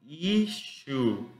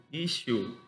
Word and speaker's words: issue: La pronunciación de esta palabra que está acá sería issue, issue, issue, ok.